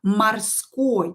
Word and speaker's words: морской: we write A, да, because we pronounce it as A. Морской, морской.